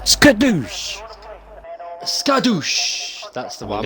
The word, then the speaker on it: Skadoosh: No, it's pronounced Skadoosh.